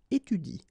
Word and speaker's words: étudie: So in that case, if you want to pronounce it correctly, you should pronounce it like il étudie. Okay, so the last thing that you will pronounce will be the vowel I here.